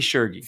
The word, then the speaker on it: Tschirgi: So, we got Shurgy. Is that how you pronounce it? I took a big guess. Pretty close. That's pretty good. It's shy. It's like Fergie, but sure. Fergie. Fergie. Sherigy.